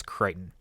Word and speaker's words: Crichton: by the name of i believe it is pronounced scott crichton c-r-i-c-h-t-o-n it's either crichton or cricton but i'm pretty sure it's creighton this is a thing